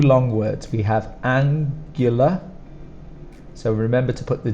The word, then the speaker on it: angular: When we pronounce it, it's more like a GU, GU. So you might want to put a Y, but we don't put that in there. GU is GU.